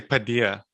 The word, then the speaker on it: Paideia: I say Paideia. It's a Greek word.